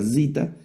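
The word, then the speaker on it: ζήτα: La zita, la letra zita, que tiene ese sonido z como el zumbidito de una abeja, ¿no?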